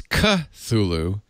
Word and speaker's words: Cthulhu: do and uh it's ka thulu according to carsten the pronunciation of cthulhu as k-8 k-h-l-u-l-h-l-o-o it said that the first syllable is pronounced gutturally and very thickly i'm sorry i put